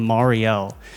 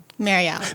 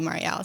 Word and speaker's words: Mariell: but with that being said I do have Marielle she recently corrected me I've been saying Mario for the past I think eight or nine